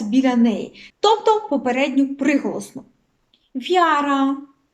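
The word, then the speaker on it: wiara: неї тобто попередню приголосну вяра вяра дивіться тут і не читається не вимовляється взагалі небо небо тежні п'єс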